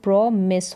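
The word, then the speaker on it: promise: है पीआरओ के साथ तो प्रोमस होगा इसका उच्चारण प्रॉमिस करना वादा करना तो यहां पर जब भी प्रॉमिस स्पेलिंग लिखें तो यहां पर जैसे ई का साउंड नहीं आ रहा है तो यहां पर ई के साथ लिखे ई जो यहां पर लास्ट में साइलेंट है इस प्रॉमिस में वादा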